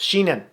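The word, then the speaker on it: Sheahan: Because, is it Sheernan? There is a UFA. I'm looking for how to pronounce it. Sheenan.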